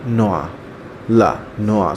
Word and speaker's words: noix: Walnut in English, la noix. So X is silent here.